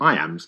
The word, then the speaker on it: iamb: and kill the envious moon notice how the iams cut across both punctuation and word separation meter